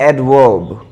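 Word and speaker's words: adverb: चूँकि रुकना होता है, इस बार र साइलेंट रहता है, आप जानते होंगे। कॉन्सोनेंट के पहले यदि र आए या फिर आखिर में आए तो हम उसे साइलेंट रखते हैं। हम पढ़ते हैं एडवर्ब, एडवर्ब, तो ये है।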